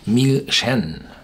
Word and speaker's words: Milsean: pronounced, you would say Milsean. It is pronounced Milsean, with a pronunciation on the end.